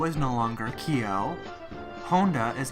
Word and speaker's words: Kyo: Lydia McKay plays Kyoko Honda, Toru's mother.